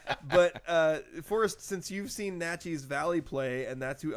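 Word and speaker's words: Naches: So since you're familiar with Natchez Valley, which I'm now pronouncing correctly, right? Natchez? It's Natchez Valley and Kiona Benton.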